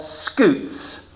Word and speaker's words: scutes: The scales on the turtle's shell are called scutes. And you guys all know how to spell scoot, but you'd spell it wrong.